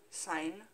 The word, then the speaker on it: Syne: I'm going to spell that. A-U-L-D-E. Next word L-A-N-G, next word S-Y-N-C. No, S-Y-N-E. Sign. Auld Lang Syne.